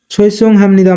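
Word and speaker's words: 죄송합니다: দ আ দা এখানে বিউ বাচ্চমের পরে নিউন থাকার কারণে বিউপের উচ্চারণ মিউম এর মত হবে তাই উচ্চারণ হবে হাম ছই সংনি দাদা সৈসং হামনিদা মানে দুঃখিত গিয় প্রথমে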